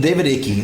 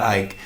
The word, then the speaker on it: Icke: David Icke, not Ike, because he pronounces it Icke, so it's probably has kind of been a bathwater guy.